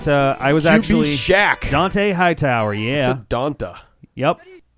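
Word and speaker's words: Dont'a: i was actually shack dante hightower yeah yep there's actually an apostrophe there i believe or he's he goes by so he's pronounced as dante dante but it's spelled uh yup don't uh don't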